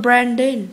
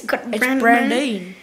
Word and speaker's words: Brandine: But anyway, this kid is not called Brandon. It's Brandine.